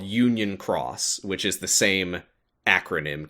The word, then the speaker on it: χ: And then, also in 2017, they started up a sequel called Union Cross, which is the same acronym, KHUX. The X is now pronounced cross instead of key.